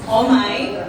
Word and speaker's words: Omay: If you haven't heard it yet, or if you've heard it, it's Omay, and yes, it's spelled O-M-A-Y.